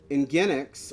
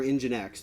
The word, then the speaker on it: Nginx: Nginx, or Nginx, depending on how you pronounce it, is...